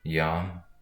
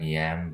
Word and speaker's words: Yam: So the sound for that would be Yam, kind of spelled like yam, but pronounced with the O in the middle, so Yam.